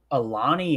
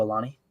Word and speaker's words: Alani: Go ahead, sponsor the show, Alani. I think that's how you say it, Alani. Yeah, it's Alani. So anyway, when you talk